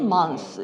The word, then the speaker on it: months: 그러면은 once every 2 months 이렇게 얘기를 하면 되고요. 요거 S 발음은요. 얘네들을 통째로 합쳐서 그냥 쓰 하고 그냥 길게 읽으시면 돼요.